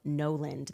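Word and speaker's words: Gnoland: Before I tell you about the LA case, guys, I first want to tell you about Noland. That is spelled G-N-O-Land.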